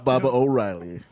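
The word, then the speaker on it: Baba O'Riley: baba o riy what he saying it wrong Baba O'Reilly not P Pat's 100 Bob Riley Baba O'Reilly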